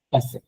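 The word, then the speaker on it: passé: এটা হচ্ছে ইয়ের উপর অ্যাকশন এগু থাকলে সাউন্ডটা উ না হয়ে এ হয়ে যায়।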